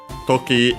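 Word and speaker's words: 時: Toki, as you have seen before me, is a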